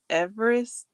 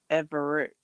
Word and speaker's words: Everett: And I said Everest the other stream, but it's Everett. Everett. Everett. It's not a ST, it's a TT. I thought it was a ST, but it's a TT.